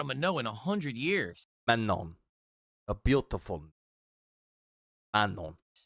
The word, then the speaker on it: Manon: That's a French girl's name, a given name in French in France. It's said as Manon.